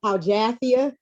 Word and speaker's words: Al-Jathiyah: No, you just have your own twist that you put on it. It's Al-Jathiyah.